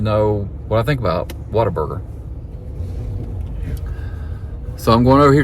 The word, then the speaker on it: Whataburger: place that I've never eaten at before called Whataburger. Is that how you say it? Whataburger.